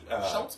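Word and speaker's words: Schulz: So the Peanuts here, which was introduced by Charles, I'm going to say his last name wrong. Schultz?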